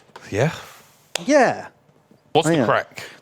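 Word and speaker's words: craic: yeah what's the crack crack that's like Irish for what's uh what's cooking good looking what's happening what what are you what are you doing down there uh why you making that noise but it's spelled differently c c r a i c crack Crick CRI what's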